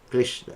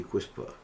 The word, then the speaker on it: Krishna: Sometimes we find devotees mispronounce the name because of laziness. One time, I think it was a devotee chanted like Hari Quispa, and Prabhupada said, "Who is that Quispa?"